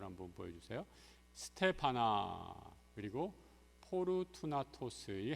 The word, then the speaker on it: 포르투나토스: 스테파나 그리고 포르투나토스이 헬라어식으로 발음을 해서 예전에 부느나도 이렇게 얘기했는데 좀 발음이 좀 많이 달라지는 것을 보게 됩니다.